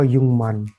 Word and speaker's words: 육만: युकमान का जो उच्चारण होगा वो होगा युंगमान।